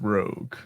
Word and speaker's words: Rouge: actually say that again I think it's pronounced Rogue ah ah Rogue okay so